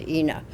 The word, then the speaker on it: Ina: won the fight but it is it is inna road for inna Giddings tucson tucson tucson tucson